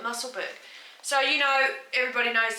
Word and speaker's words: Musselburgh: Musselburgh. I live near a place called Helensburgh, and it's spelt similar to Musselburgh, so let's call it Musselburgh.